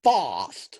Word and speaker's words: Fost: Fast being That's signed. Not the right name. Fost. It's Fost. Is it Fost? Is it Fost? It's Jesper Fost.